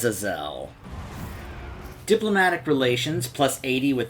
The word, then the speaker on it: Azazel: lord who serves slanesh i assume he it is pronounced as a zell diplomatic relations plus 80